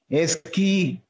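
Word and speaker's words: Ezekiel: His name is Eskil. Even L is silent, in fact.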